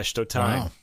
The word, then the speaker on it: Stotijn: The bassist in question, and I'm really glad I went to the pronunciation guide for this one because I never would have gotten it right. Rick Stotijn. That's how you say it? Yeah, Stotijn.